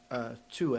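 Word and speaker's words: Thue: And the amazing thing is, number one, the proof about this, which goes back to a name, Tue, I think is the correct pronunciation, and it is heralded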